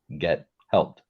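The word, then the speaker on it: gethelpt: g-e-t and then h-e-l-p-t get helped and that's why I wanted you to do it because it sounds one way but it's spelled another my friend well I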